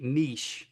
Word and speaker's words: niche: manufacturing or whatever your niche is. Um, and then because we don't say niche down here in the south, we say niche, right? Um, but there are the two pronunciations.